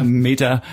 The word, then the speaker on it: Meter: natürlich als Mieter also nicht als Smart Mieter Meter mit englischer Aussprache sondern als Mieter oder